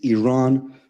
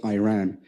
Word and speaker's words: Iran: our country's name wrong our country is named Iran not Iran please once and for